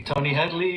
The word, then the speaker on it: Tony Hadley: far as I'm concerned you pronounced my name absolutely correctly Tony Headley you might have said Headley his SL accent but as far as I concerned you know you you you said my name correctly I mean he granted